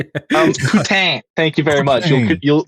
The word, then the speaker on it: poutine: Um poutine, thank you very much. You'll You'll You'll announce my regional delicacy with correct French accent. Thank It's pronounced like poutine?